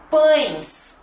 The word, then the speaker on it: pães: E depois temos a quarta, que seria pães. Ai, pães, bem nasal de novo. Meu Deus, esse som nasal é para acabar, né? Pães, ó, bem, né? Força o nariz, pães.